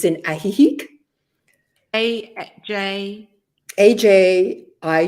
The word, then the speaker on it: Ajijic: Via De Oro I guess it's more proper pronunciation in Spanish it's in ajijic AJ i j i c okay and these